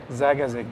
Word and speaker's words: Zagazig: Well, in a small city called Zagazig, which is about an hour ride from Cairo, so not too far. How do you say that again? Zagazig.